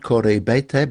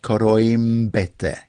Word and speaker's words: Koroibete: And there is a footballer whose name is Koroibete, and that's not Koroibete, but Koroimbete. You put in an M before the B.